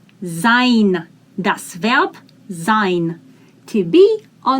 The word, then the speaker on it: sein: in the combination gives i s in the beginning is pronounced as sein das to be or